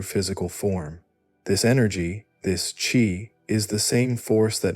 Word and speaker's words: qi: It brings the very essence of life itself, the mysterious force the Chinese call qi, pronounced qi, the vital energy that animates all existence.